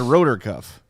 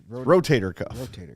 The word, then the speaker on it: rotator cuff: We know what you're talking about, but you said rotor cuff. Rotator cuff.